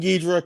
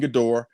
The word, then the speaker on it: Ghidorah: King Ghidorah, King Gidorah.